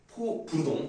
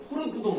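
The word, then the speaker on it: fauxbourdon: 포부르동. 네. 아까부터 계속 발음을 포르부동 막 이런 식으로 다른 발음 잘못해가지고 포부르동 같은 경우는 어떻게 기보를 하냐면 제일 높은 것과 제일 낮은 것을 기보를 하죠.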